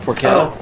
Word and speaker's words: porchetta: Well, you guys ever have um porquetta? It's It's spelled porchetta, but it's pronounced porquetta. Yeah. And so it's a basic Well, no, I haven't had that. I've had porchetta, but it's basically Brian